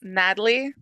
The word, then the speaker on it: Nathalie Schlotterhausen-Jones: you pronounce your name so it's Natalie the H is silent and then like a sin uh and then uh Dash hyphenated that last part's the worst